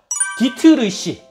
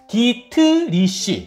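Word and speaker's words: Dietrich: 디트르시. 아니, 발음도 어렵다. 디트리시.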